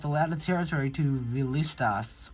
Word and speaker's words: Villistas: lost a lot of territory to Villistas, or Villistas? I know that Spanish-speaking countries don't pronounce the double L.